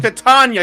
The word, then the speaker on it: Titania: It's Titania, you fuck!